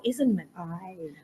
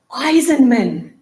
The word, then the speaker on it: Eisenman: saying your name wrong is it Eisenman or isenman Eisenman after all this time